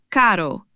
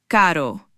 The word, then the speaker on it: caro: First up is the single R. This isn't like the English R. It's a soft quick tap of the tongue against the roof of your mouth. Similar to the t sound in the American pronunciation of butter.